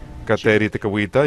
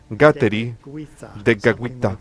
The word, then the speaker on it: Kateri Tekakwitha: En India me parece que la K se pronuncia como si fuera J, así que ellos dicen Santa Kateri Tekakwitha, algo así más o menos.